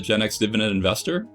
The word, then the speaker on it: Gen EX Dividend Investor: By the way, have you noticed that my handle is spelled Gen EX Dividend Investor and not Gen X Dividend Investor, even though I pronounce it Gen X Dividend Investor?